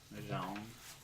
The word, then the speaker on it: Jean: Jean. It's like John. Jean. Sean Valjean. But it's spelled like Jean.